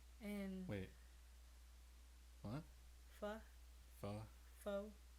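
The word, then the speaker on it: phở: And then after that, by probably the end of my pregnancy with him, all I wanted was pho. Tried pho. Pho is bomb. And wait. What? Pho. Pho. Pho.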